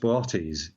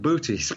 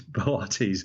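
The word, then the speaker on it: Boötes: it's actually it's a funny word it's usually pronounced botis so there's there's two o's in it uh it looks like boties but it's bities the second o has a numb out over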